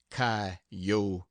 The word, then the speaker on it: coyotes: lawyers Christians Indians Chinamen Spaniards gamblers sharpers coyotes pronounced kotes poets preaches and jackass rabbits I overheard a